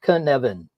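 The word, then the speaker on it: Cynefin: you're saying it correctly say Kevin and put a n in the middle Kevan all right now you know Welsh um and this is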